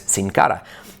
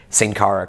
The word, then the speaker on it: Sin Cara: high school college so i i know it's cincara when he came in it was like the